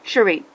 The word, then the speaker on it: Cherie: Sierra, Cherie, or whatever her name is, Cherie, that's how you say it, said she knew there